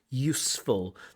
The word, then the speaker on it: useful: We do have that Uzbek problem where they find it difficult just to say things like useful, to connect that s with the f, useful, that they often want to add a syllable.